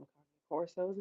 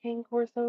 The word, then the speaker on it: Cane Corso: Please call them Cane Corsos. It's not Cane Corso, it's Cane Corso because it's Italian, and just because it's spelled Cane, remember Corso also is Italian, so get it right.